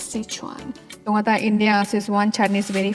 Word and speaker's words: Sichuan: of sichuan well sichuan we heard in india there is an ad called sis one chutney ad and this is one noodle this is one fried rice well actually its pronunciation is sichuan indians is one chinese